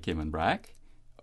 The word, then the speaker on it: Cayman: is gay man hmm and when we couple it then with phrases like Cayman Brac Little Cayman or the Cayman Islands we tend to minimize that strong accentuation on the last syllable and that is the correct way he was tending to